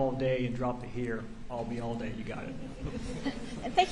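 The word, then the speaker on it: Ayalde: for the record Jomar I'll be all day spelling my last name is a-l-bism Bravo a-y-a-l-d-e I'll be all day if it makes any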